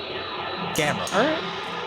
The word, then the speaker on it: Gamera: Yeah, like camera, but with a G. It, Gamera. all right. Which sounds like someone drunkenly slurring grandma, but...